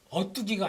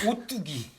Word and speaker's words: 오뚜기: 어뚜기가 아니고요. 오뚜기. 오뚜기. 오뚜기.